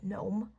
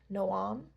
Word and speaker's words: Noam: Gnome. Um, he's technically Hebrew, so it could be pronounced Noam, but that's what the author said, but she calls it gnome. I call it gnome.